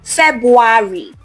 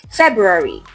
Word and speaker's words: February: Now, the first word, it's not February. No, the correct pronunciation is February. There is a clear R sound after the Feb.